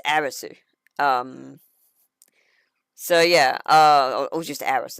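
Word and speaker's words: アリス: It gets translated from Arisu, which is Arisu. And it's actually pronounced Aris. U at the end of a word, when it's English like that, is usually silent.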